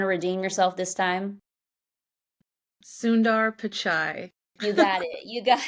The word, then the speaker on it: Sundar Pichai: Sundar Pichai.